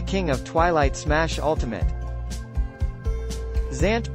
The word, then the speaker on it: Zant: of Twilight smash ultimate Zant pronounced Van Zant is one of two